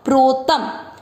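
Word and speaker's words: प्रोतम्: पर अनुस्वार आधा म, मिदम प्रो, प्र का अर्थ क्या हुआ, आधा प, देखिए प की नीचे हलंत है, और ये वाली मात्रा र की, प्र, इस पर ओ की मात्रा लगी तो प्रो, प्रोत। शब्द पूरा होने के बाद अनुस्वार लास्ट वाले अक्षर पर, तो इसको पढ़ेंगे आधा म, प्रोतम। तीसरा चरण रिपीट, मयि सर्वमिदं प्रोतम।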